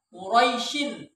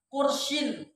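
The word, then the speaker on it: قريش: Quraisyin ya, Quraisyin bukan Kursyin, tapi rohnya berharokat fathah.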